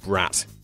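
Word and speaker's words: брат: that means something different while the Russian word is pronounced brat it simply means brother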